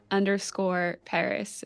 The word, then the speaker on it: Paras: the area it's Paris p a r a s right yeah yeah that that's great thanks yeah my last name is pronounced like the city but spelled like the Pokemon which means nothing to